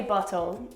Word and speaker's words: bottle: So instead of pronouncing that T, it's like a the sound, like a lazy D sound.